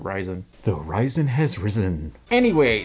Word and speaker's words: Ryzen: of led matrix displays or is it risen i've always pronounced it ryzen the horizon has risen